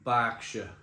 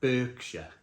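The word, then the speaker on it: Berkshire: started reviewing beer and I used to call it Burkshire. And people in the comments box used to go, "What are YOU WHAT ARE YOU DOING? IT'S NOT CALLED BURKSHIRE, IT'S CALLED BSHIRE." It's an A. It's an E that's pronounced with an A.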